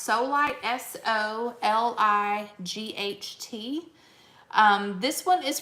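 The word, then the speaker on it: Solight: the lids again is i think it's pronounced solid s-o-l-i-g-h-t um this one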